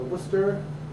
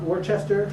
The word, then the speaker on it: Worcester: Massachusetts wora um or Worcester it's not Worchester which I made the mistake of calling it Worchester and they made fun